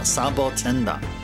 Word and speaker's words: Sabotender: Sabotender. That That's how it's pronounced in Japanese. Sa sabotenda. Sabotenda.